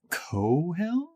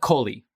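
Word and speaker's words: Kohli: And he's played by Raul Cohill. Is that how you would spell it? It's Coley. Coley? Yeah. Cohill? Coley? Coley. Yeah. Cooley.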